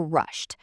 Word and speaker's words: rushed: Again, think T because we know it has the T ending. Rushed to the station. It may sound like rushed to the station to you, but I'm saying rushed and it will come across as past tense because my intention is to have that T ending.